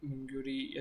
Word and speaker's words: Mingrui: Last time मुझको ये main character जो हमारा है, जो मिंगूरी या जो भी है, इसका नाम मुझे समझ नहीं आ रहा था।